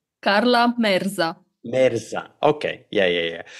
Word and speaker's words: Merza: good so so how do how do you pronounce it correctly Carla merza Meza okay yeah yeah yeah I I I